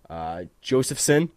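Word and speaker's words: Josefson: Josephson.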